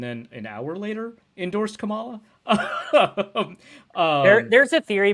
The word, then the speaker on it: Kamala: uh I got to say her name correctly Kamala that's it uh the reason say it wrong